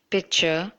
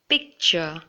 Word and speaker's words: picture: Okay, some of you may have been pronouncing this word as picture, but it should be pronounced as picture. The C should be pronounced picture. Can I take a picture of you? Can I see your picture? So remember, it shouldn't be picture, but it should be picture.